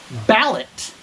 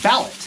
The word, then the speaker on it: BALIT: pronouncing the name correctly because it's spelled b-a-l-i-t to me that's ballot portable air compressor it's